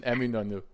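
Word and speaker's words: Eminönü: I visited Hagia Sophia and then took the train to Eminonu. Yeah, good. Good pronunciation. Eminonu.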